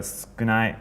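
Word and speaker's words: 少ない: So sukunai or skoshi, like more skoshi, it's gonna have a little bit more.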